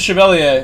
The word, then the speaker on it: Chevalier: pronounce it it is Chevalier it's not for you because you're you're in Europe so I should pronounce it with the proper non-american accent in this region sometimes